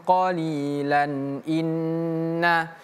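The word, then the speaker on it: قَلِيلًا: Kalau berhenti panjangnya dibaca, tanwinnya tidak dibaca. Sebaliknya kalau disambung ee panjangnya tidak dibaca tapi tanwinnya dibaca namanya adalah mad ii wad.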